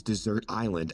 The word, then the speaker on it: Desert Island: largest of which is Desert Island at 108 square miles incidentally the island's name is pronounced like the word dessert instead of the normal